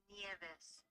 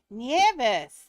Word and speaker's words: Nieves: It's pronounced Nieves. Nieves.